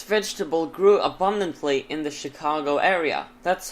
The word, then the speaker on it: Chicago: same thing with Chicago the name of Chicago's derived from a French rendering of the Native American word shakakwa therefore is pronounced in Chicago not just because there